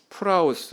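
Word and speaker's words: πραΰς: 시간을 가지고자 합니다 자이 헬라어로 유라고 하는이 단어는 프라우스 이렇게 발음을 해요이 어휘적인 의미를 살펴보면 첫째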